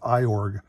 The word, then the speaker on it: Iorg: remember the name but i've heard it pronounced it was like orange or urge i can't remember which